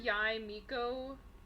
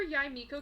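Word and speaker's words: Yae Miko: whenever uh whenever yai miko or mikko yeah that's how you say her name because it's it's the title first and then the name in japanese uh so yeah whenever yai miko came out was when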